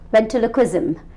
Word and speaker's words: ventriloquism: Ventriloquism. It's kind of difficult to pronounce. So what I tell people is how to remember this name is you have a triloque in between.